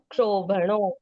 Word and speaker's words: क्षोभणो: क्षोभणो, क्योंकि क्ष कैसे बनता है? आधा क प्लस श, तो उद्भव हाँ। करके आधे क की उच्चारण आती है।